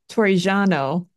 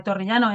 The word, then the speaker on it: Torrigiano: So Torrigiano, that's the best I can do with his name. That was pretty good. Thanks. Okay. You just have to roll your R's a little bit more.